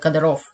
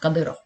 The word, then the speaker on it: Kadyrov: kadyrov say after his name uh english-speaking people pronounce him like kadarov but in russian he pronounced kadero and um the childhood friend of ramazan kadyrov